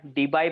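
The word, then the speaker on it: Debye: या केस मध्ये dipole moment आहे 1.91 डीबे. 1.91 डीबे. डीबे म्हणतात, डीबाय पण म्हणतात. जसं प्रोनाउन्सिएशन तुम्हाला जमेल तसं करा, पण एक्झाम मध्ये स्पेलिंग चुकू नका.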